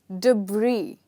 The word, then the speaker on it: debris: at the next one the next word is debris yes you heard me right here s is silent but before we go